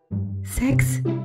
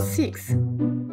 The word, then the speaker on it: six: OK one to free For five sex nie seks tylko Six poucz się wymawiać tego w domu po lekcjach